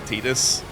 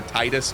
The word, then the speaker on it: Tidus: As much fun as it is to make fun of the guy who voice acted Tidus, or Titus, depending on how you like to pronounce it. I always called it Tidus.